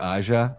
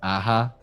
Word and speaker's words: Aja: But I would imagine what the remake was Alexander Aja. Aha. I don't know if he pronounced. I would imagine he doesn't pronounce the J. The J is silent.